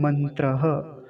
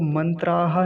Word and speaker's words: मंत्रः: अगला शब्द क्या है मंत्रः तो मंत्रा नहीं बोलेंगे मंत्रः ऐसा बोलेंगे दो या दो से अधिक मंत्र हो तो उसके लिए क्या बोलेंगे मंत्रा और एक मंत्र होगा